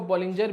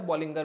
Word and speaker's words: Bollinger: बॉलिंगर bands, काफ़ी लोग इसको बॉलिंजर भी बोल देते हैं, वैसे इसका जो सही प्रोनाउंसिएशन है वो है बॉलिंगर बैंड्स।